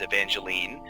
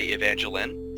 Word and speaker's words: Evangeline: So the most widely used way to say it is Evangeline. Down where we are, we just say Evangeline, so kind of like more like the name Lynn.